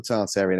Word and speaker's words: Tartaria: Tartaria is a strange one because it's a lot of people say it's pronounced Tartaria, but in England, for whatever reason, we use the R. We're pronouncing the R, and I can't stop using the R.